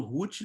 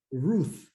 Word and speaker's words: Ruth: a esposa dele né Eu falo rut no meu no minha pronúncia aqui portuguesa mas é é R fala né como é que fala Ruth Ruth Ruth tem que morder a língua né agora um pouquinho